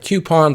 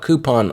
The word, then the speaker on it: coupon: u p o n some people could pronounce that coupon but we'll call it coupon on here so the